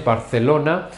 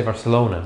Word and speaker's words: Barcelona: Notice the pronunciation in Spanish, Barcelona. And in English, people say Barcelona.